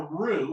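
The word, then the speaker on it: roux: Mison plus we are about to make a rue which is spelled r ux when the Rue is done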